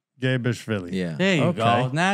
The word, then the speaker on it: Mgebrishvili: Today, we're proud to present to you international actor Mgebrishvili. Did I butcher that? Yeah, a little bit. Tell the fans what it's really, how do we pronounce this? So, it's Mgebrishvili. Mgebrishvili.